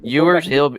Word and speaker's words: Ewers: How do you say his name? Ewers.